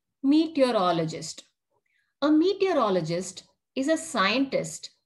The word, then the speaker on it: meteorologist: Meteorologist. Say it like this. Meet your all o gist. Meteorologist.